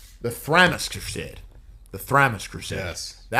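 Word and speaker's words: Thramas: And then and I got the the name wrong. The Thramis crusade. The Thramis crusade.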